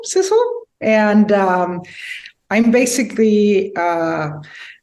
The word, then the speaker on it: Sidsel: do please yes my name is harder it rhymes with whistle Sizzle and um I'm basically